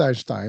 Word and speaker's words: Einstein: Well, Albert Einstein, and I'm throwing it in the German way.